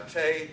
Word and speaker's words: Tay: Now, Tay, that's just the way they're pronouncing the word tea, you know, so tea, of course, is a euphemism for homemade liquor.